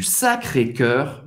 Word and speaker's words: Sacré-Cœur: La basilique du sagrado, sacré, cœur, sagrado coração, sacré cœur, faz a boca do O e fala Sacré-Cœur. E você vai pronunciar esse R.